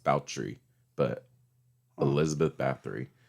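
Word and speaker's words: Báthory: elizabeth a lot of people call her elizabeth bathory it's pronounced baltree but elizabeth bathory spell is it like it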